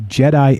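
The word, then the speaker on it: Djedi: the tale of the jedi and the magicians yep d-j-e-d-i pronounced a jedi uh the first few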